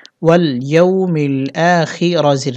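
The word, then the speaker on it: الآخر: হি ওয়াল ইয়াউ মিল আ খি রাজির রি আ খিরি এখানে আমরা অকফু করবো। অকফু করলে র সাকিন হবে উচ্চারণ হবে আ খির।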